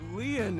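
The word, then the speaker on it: Lien: stay by your side my name leon is spelled l-i-e-n in french leon means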